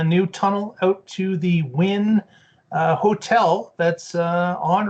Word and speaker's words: Wynn: story a boring company gets a win and win in this case is spelled w-y-n-n and the reason for this of